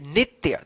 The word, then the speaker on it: नित्य: वह नित्य, देखिए नित्य, नित्य इस तरह से आप लिखिएगा, नित्य। जहां पे आधा अक्षर का उच्चारण होगा वहां पे आधे लिखना आप, ठीक है ना, नित्य, ठीक है।